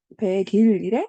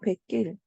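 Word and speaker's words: 뱃길: 백길 자 이렇게 자 배와 길이 만나서 우린 합성어가 되는데 자 그럴 때 어떻게 발음한다? 배길이래? 아니야, 백길. 자 이렇게 발음하는 게 이제 우리는 표준 발음이란 말이야.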